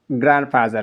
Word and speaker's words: grandfather: ኢትስ ሚስቴክ grandfather says that grandfather D is silent። ስለዚህ ይሄንን grandfather ብለን ፕሮናውንስ ማድረግ መቻል